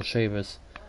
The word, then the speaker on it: Chavous: because I've been here and that's how you pronounce his last name is Wendell Sheamus there's a 99 truck that I faced it